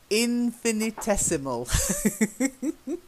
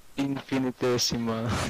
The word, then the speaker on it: infinitesimal: Infinitesimal. Infinitesimal. Yeah, don't you love English? Words like that. It means very, very small. Okay? Infinitesimal. Infinitesimal. Infinitesimal. Yeah, that's where you need to know your syllables.